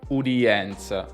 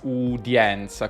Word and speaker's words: udienza: italiano una piccola cosa udienza lo pronuncia come se fosse duri e puri e udienza fiume di è come se fossero separate e questo si chiama gli ato in fonetica come nelle parole italiane poeta reale reale e lui ha detto u d enza udienza che però andrebbe pronunciata udienza con die die credo che dica anche